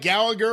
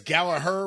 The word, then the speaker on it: Gallagher: you think about this I like Jack Gallagher or I guess Gallaher we're supposed to pronounce it as when he was